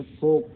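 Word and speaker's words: folk: इसी तरीके से यहाँ देखिए फोक, फोक मीन्स लोग, और शुड मीन्स चाहिए। यहाँ L जो आप दोनों दिखाई पड़ा, फोक में भी L और शुड में भी L जो है वो साइलेंट है।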